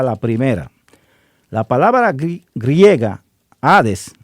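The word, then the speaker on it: hades: La palabra griega ades y se escribe h a d e s significa simplemente sepultura o fosa, es decir, un simple hoyo en la tierra, la tumba.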